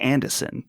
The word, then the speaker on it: Anderson: Wake and Saga Anderson, or as she says, Saga Anderson with no R.